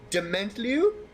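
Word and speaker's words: Dementlieu: dementliu which is the don't question us on the pronunciation there that's how you say it that's how everyone says it it is definitely thank you you gotta really like you have to really french the the last syllable dimini uh there is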